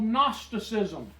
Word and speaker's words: Gnosticism: It's spelled with a G. G-N? G-N, just like Okay. a gnat. Gnosticism.